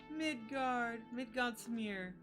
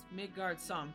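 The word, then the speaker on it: Midgardsormr: Oh, it's got a little Midgard smear. Oh. Or Midgard Som. Sorry, Midgard Som is how it's pronounced, sorry.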